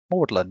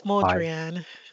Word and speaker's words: Maudrian: We have a question, hand up from Maudlin, I think you pronounced the name. Hi, it's Maudrian.